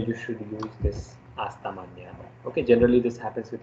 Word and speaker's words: mañana: The other one is hasta mañana. Okay, so this is the neo sound.